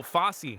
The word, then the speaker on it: Fosse: his name before oh Fosse Fosse is how you say it thank you he's well